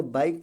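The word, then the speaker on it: bike: बाइक है तो बाइक, बाइक के नहीं पढ़ा जाएगा, बाइक पढ़ा जाएगा।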